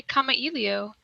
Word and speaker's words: Kamailio: Kathleen, how do you pronounce Kamailio World? I just say Kamailio.